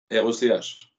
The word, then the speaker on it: Rech: R-E-C-H. Ça se prononce Rec à la bretonne. Rock, c'est ça? Rec. Oh, ou Rock, c'est aussi, un peu. D'accord, oui, c'est cool.